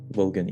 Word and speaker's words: Volgan: Is that how you pronounce his name? The Volgan. Volgan, yeah, exactly.